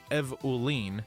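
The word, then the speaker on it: Eveline: Eveine, pronounced Evolene, is not born into a family.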